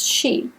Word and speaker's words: Sidhe: she actually says that the pronunciation is she and she is apparently